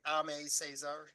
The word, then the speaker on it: Aimé Césaire: But I would agree, I guess, yeah, what Amir said, Cesar, that's how you say his name, Aimé Césaire, said about fascism as colonialism brought home.